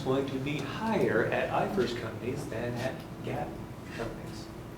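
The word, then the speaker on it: IFRS: experience research and development when it happens under iers that's how you pronounce that iers under iers you can start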